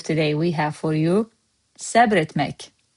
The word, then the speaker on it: səbr etmək: In Master Azerbaijani word of today, we have for you SÄBR ETMÄK. SÄBR, one syllable, etmek.